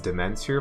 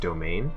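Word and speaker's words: demesne: stage your piety that I know it says Dementor but it's pronounced domain so it tells you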